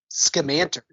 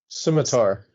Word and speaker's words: scimitar: that when they light it it's a uh scamander however you pronounce it Scimitar yeah I knew I knew somebody corrected me